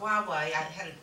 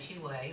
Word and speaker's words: Huawei: to be able to, I tell you what, Huawei, took me about 2 weeks to learn how to say it because I kept calling it Huawei, or you can see that how it's spelled down there.